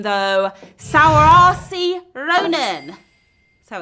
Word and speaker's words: Saoirse: now I'm about to butcher this name though sour RC Ronan so it's spelled Saoirse Ronan is who we're talking about